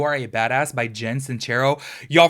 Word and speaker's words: Sincero: Jen cincero you all for the longest time I was pronouncing her name Jen since Sarah I was telling all my friends you need to check out this book by Jen sincero and it's cincero anyways if you guys